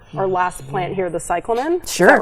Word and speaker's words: cyclamen: oh no no you're fine so yeah so cyclen these are grown out of tuers um beautiful